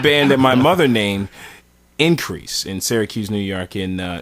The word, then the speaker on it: Inkreese: We formed a band that my mother named Increase in Syracuse, New York, and it's not spelled like you would spell increase. It's actually spelled INKREESE.